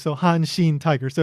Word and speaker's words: Hanshin: becomes Han, and then Shin is the first kanji of Kobe, which is pronounced Shin in this case, so Hanshin Tigers.